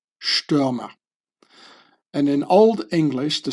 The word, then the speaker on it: Stürmer: The ST is like pronounced like sh, Stürmer.